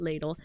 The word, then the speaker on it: Ladle: And then there's ladle, which I will continue to call it ladle. I wanted to change the pronunciation of it to liddell, but then I was just like I already started calling it ladle, so it's just gonna be ladle like a spoon, like a like a